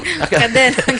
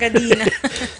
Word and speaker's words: kadena: Ang of the night sa Actually, kadenang ginto. Katigas ang kadina. Tigagid man ha? Ang gani, check to, correct. Aming mumuk na nga. Pero pag-pronounce kadena, hindi kadina.